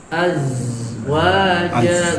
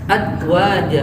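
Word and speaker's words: أزواجا: Safirnya dia seperti lebah. Azwaja gitu. gitu. Az. Jadi bergetar. Kayak ada tekanan gitu ya, berat. Az. Gitu. Kalau dia baca adwaja atau lagi dipantulkan aja, itu lebih salah lagi.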